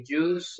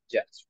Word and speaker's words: just: care okay and affordable remember that we never say juice uh don't say juice okay we say just remember to get used to it J okay remember try not to say juice we say J okay J um area